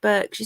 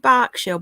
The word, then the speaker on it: Berkshire: quiet street in burke berkshire is it bark shell burke shabach it's berkshire berkshire we're not warned and we're saying it wrong but berkshire yeah that's proper berkshire yeah berkshire um hang